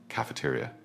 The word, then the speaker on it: cafeteria: Then we have cafeteria. Pay attention to the EA sound here. Cafeteria.